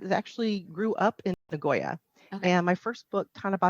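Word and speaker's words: Nagoya: talk about the city is it ngoya is that how you say it yes okay that's correct have you have you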